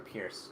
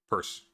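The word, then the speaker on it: Peirce: things that i've read from pierce um purse i know it's annoying it's it's it's it's spelled like pierce but it's purse go on uh okay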